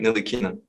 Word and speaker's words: Ntilikina: name thank you yeah it's my frank nilly nilly the t silent all right perfect as